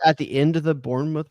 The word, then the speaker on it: Bournemouth: first of all with Bournemouth Bournemouth he's going to have to have a big I'm sorry. Yeah. I think it's called I think it's pronounced Bornemouth. I think that's how you say that.